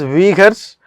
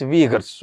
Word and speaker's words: Uyghurs: So this pronunciation is Uyghurs, you can call it as Uyghurs, it's all up to you, but the pronunciation is Uyghurs, okay, whatever you pronounce it, that's not an issue.